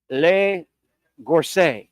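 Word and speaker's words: La Gorce: And I may be pronouncing it incorrect. Le Gorce.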